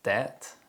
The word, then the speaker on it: debt: the ba sound and there are some common words which contain the silent letter b such as det and lamb the letter b is often silent when it appears before the letter t and after the letter m usually at the end of words other common